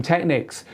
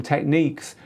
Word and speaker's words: Technics: in Europe call them Technics you in the states call them techniques you are right that is the correct way of pronouncing them but you'll never change